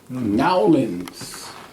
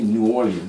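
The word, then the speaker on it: Nawlins: Nowlands. I'm from Nowlands. Mm-hmm. That's how they say it down there. Nolans. Nowlands. N-A-W-L-I-N-S. They don't say New Orleans.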